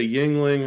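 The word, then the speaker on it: Yuengling: See, I can't drink Yingling. They're too heavy. It's like a 12-course meal. I want to drink. It's like you're having some wings. Yeah, that's it rhymes with wings.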